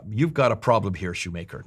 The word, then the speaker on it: Schumacher: got a problem here, Shoemaker, not Schumacher, that's the German pronunciation.